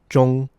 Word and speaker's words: 中: First and foremost, let's remember that the zh creates a j sound in Chinese.